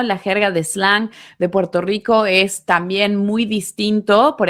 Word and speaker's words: Puerto Rico: Hay que mencionar definitivamente la forma de pronunciar la R, sí, la R como una L del acento, ¿no?, del español puertorriqueño es particularmente difícil de comprender. En vez de decir Puerto Rico, dicen Puerto Lico, ¿no?